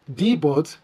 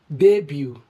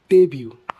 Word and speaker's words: debut: is not pronounced as debut, debut, or debut. The word should correctly be pronounced as debut, debut. Origin, French, where the T is silent. So we pronounce this word simply as debut.